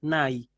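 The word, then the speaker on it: ναί: de decir sí es nai, que en griego moderno continúa usándose así. Se pronuncia distinto, se pronuncia ne, pero se usa, ¿sí?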